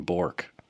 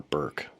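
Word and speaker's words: Bourque: none his name was Justin Christian Bor or Burke I guess his father pronounces it that way so I will too it looks like Bor like Ray bour a hockey player uh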